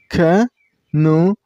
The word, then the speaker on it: canoeing: This sport name has 3 syllables. Canoeing. And you should stress on the middle syllable. I mean on nu sound.